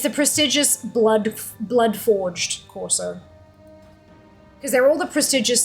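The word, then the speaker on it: Courser: Corsair is spelled as like C-O-U-R-S-E-R. Like you're plotting a course with a Corsair rather than Corsair, but yeah.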